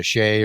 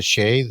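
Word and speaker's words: Sidhe: names around the world from the s or the sheay or the sea however you want to pronounce that there's a or the shade there's several different ways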